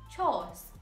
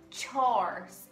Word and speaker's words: chores: Mas, na verdade, tem pezinho aí escondido nessa pronúncia. Então o correto seria chores, chores.